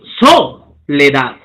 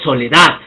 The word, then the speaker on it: soledad: Mira, soledad. No digo soledad, digo soledad. ¿No? La curva asciende. Libertad, rezar, amanecer, celular. ¿Ok? Son agudas. ¿Por qué? Porque tienen su intensidad de voz en la última sílaba, pero no se tilda.